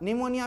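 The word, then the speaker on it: pneumonia: आप निमोनिया में P silent, psychology में P साइलेंट, ये सारी चीज़ को आप देखेंगे, उच्चारण भी और साइलेंट भी।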